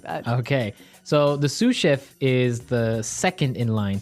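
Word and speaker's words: sous: s o u s so the S is silent because it's like a French word yeah something like that okay so the suf is the second in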